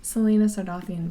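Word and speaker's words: Celaena Sardothien: your uh well yeah because they sound ridiculous selena sardothien by the way is how you say that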